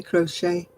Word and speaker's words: crochet: It's like crochet. I say crochet.